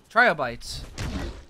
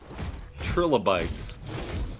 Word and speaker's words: trilobites: what did you say trial bites trilobites to me they're trilobites I I'm sticking with my pronunciation it's a it's a regional dialect from alvany New York all right you're siding